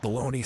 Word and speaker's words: bologna: Everything about baloney's silly. Who decided on the pronunciation of the word baloney?